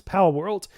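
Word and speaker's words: Palworld: couple of days uh pow world I believe that's how you pronounce it it's pow world it's basically if you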